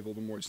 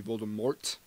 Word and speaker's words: Voldemort: Voldemort pronunciation just is a simple thing about how do you actually say Voldemort's name. Some people put a hard T at the end, so it'd be Voldemort. Some people say Voldemort.